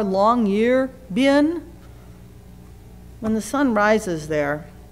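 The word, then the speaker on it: Longyearbyen: rises in longan Norway longan it's kind of spelled like it sounds l n g ye R long year bin when the Sun rises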